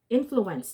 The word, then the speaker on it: influenced: Influenced. Influenced. Yeah, because it ends in CE. Okay, it ends in C. So if you add D, the ED becomes T.